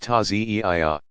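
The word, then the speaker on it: تعزية: In more traditional Shia villages, people still gather to reenact the events in a passion play called the Taziyah, pronounced Taziyah.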